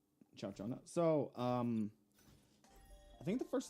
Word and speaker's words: Ciaccona: How do you pronounce her name? Chachona.